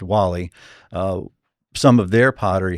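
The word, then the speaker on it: Guale: Uh there was another tribe to our north uh called the Wall-E. It's actually gu, but it's pronounced Wall-E.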